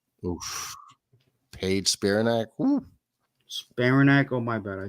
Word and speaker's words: Spiranac: Paige Spiraniak. Oof. Paige Spiranac. Ooh. Spiranac.